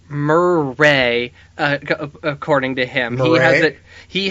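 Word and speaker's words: Merei: you jason and he gave us the proper pronunciation of who i was calling mary yeah and who how were you what were you calling her mirai maybe yeah i think you're closer for sure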